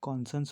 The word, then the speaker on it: conscience: कॉन्सन्स की स्पेलिंग जो होती है वो CONSCIENCE। इसको कॉन्सन्स पढ़ते हैं, इसको कॉन्सन्स प्रोनाउंस करते हैं।